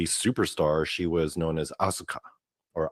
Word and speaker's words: Asuka: So yeah, her original name was Kana, and yeah, when she became a WWE superstar, she was known as Asuka, or Asuka is the way it's pronounced.